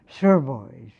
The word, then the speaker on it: Sotheby's: She said, "I shall be glad to tell you where it is if you will pronounce it properly. Sotheby's."